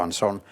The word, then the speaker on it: Ansón: allí se pronuncia así pero aquí en España siempre hemos dicho ansón es como si dices No sé Durán yaida cómo le llamas a Durán tú que conoces también usted que conoce también Barcelona no le dice duran le dicen durá no aunque se escribe sin acento y ansón se escribe sin acento desde mi punto de vista Pero se pronuncia ansón en castellano de la misma manera